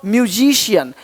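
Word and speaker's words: musician: रहे हो racial racial देख पा रहे हो म्यूजिशियन म्यूजिशियन देख रहे हो फेशियल फेशियल करवा लो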